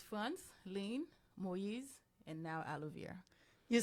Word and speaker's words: Frantzline: the Lan yes so if we have to pronounce it we have to go friend lean friends fren oh nice can you guys say